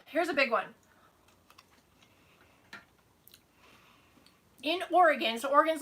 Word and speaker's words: Oregon: And then, I haven't heard it for a while, but still some people call it Oregon. It doesn't rhyme with Pentagon. It doesn't rhyme with anything. It's Oregon. So, yeah, Oregon and the Willamette Valley.